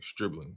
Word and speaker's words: Stribling: How you pronouncing this dude name? Streebling.